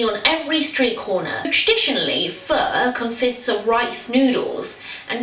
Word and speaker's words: Pho: me pronounce it as fur some people pronounce it as foe but unfortunately that is incorrect I'm not even quite